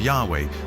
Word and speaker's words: Yahweh: would be YH wh which we think were probably pronounced something like Yahweh but Yahweh only appears